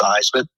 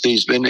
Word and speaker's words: Theismann: Our sports information director called me in the office, asked me how I pronounced my name. I told him it was Theismann. He told me it was Theismann. I told him again it was Theismann, and I told him it was Theismann.